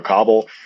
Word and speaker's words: Cauble: more on the course so it's not c-o-b-b-l-e spell it that's right yeah it's yeah it's c-a-u-b-l-e it's a it's a very funny spelling uh and then also